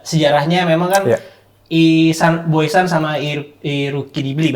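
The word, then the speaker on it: Irriducibili: Ya kalau dari gue sih memang ya kalau kita track back ke sejarahnya memang kan Boysan sama Iruki Dibli bacanya ya. Irudicibili itu sebutan ultrasnya Lazio.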